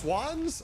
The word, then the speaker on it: Schwan's: It's pronounced Swans.